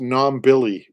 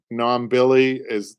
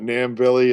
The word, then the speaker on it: Nombilly: It's pronounced Nombilly, Patrick. Nombilly it's not Nambilly, it's Nombilly.